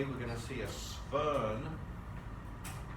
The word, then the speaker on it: Swern: And a Swern oxidation, we're going to start having lots of Germanic names with W sounds that are pronounced as V's.